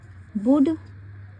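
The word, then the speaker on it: would: अब हम यह पढ़ेंगे बुड क्योंकि इसमें एल साइलेंट होता है इसलिए हम इसे बुड पढ़ते हैं बुलट नहीं पढ़ेंगे तो इसको हम साइलेंट रखेंगे लिख सकते हैं लेकिन पढ़ना नहीं है उसके बाद नॉट कक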